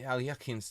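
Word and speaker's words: Alekhine: It's the Alyakin's defense. This is actually a sideline. Knight b6 is mostly recommended in Alyakin's books. Alyakin, if you want to pronounce it correctly.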